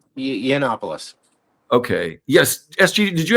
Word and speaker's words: Yiannopoulos: Yiannopoulos.